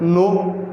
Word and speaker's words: know: जैसे आप देखो KNOW, अगर एज इसको वर्ड्स देखें तो इसको बोलना क्या चाहिए? कनो बोलना चाहिए, लेकिन इसका प्रोनाउंसिएशन क्या होता है? नो।